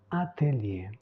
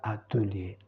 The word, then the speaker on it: atelier: secret secreto le dernier c'est un mot français qu'on utilise en italien et on le prononce comme ça atelier et non pas atelier atelier donc pour résumer